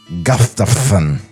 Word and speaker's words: Gustafson: Mort Gustafson in his office, doing his stiff best to project warmth as America's Mr. Laughter. I believe it's pronounced Gustafson. You're right.